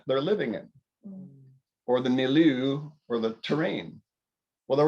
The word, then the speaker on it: milieu: living in or the meloo or the terrain well there was that word of the pronunciation last week did i say it right milieu yeah yep okay so the terrain and